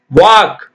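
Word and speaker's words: walk: எல்லாம் இருக்கு இல்லைங்களா கிராமிய நடனக்கலை போக் டான்ஸ் அது வாக் வால்க் நான் சொல்றேன் வாக் பண்ண சொல்றோம் ஆனா எல்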